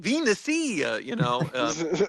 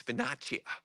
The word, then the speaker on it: Venezia: He's like, Tyler, it's Venezia, Yeah, Venecia. not We got our- Venecia. C is always CH in Italian.